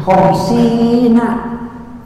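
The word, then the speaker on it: خمسين: Khamsina, beranak-anak santri bacanya khamsina.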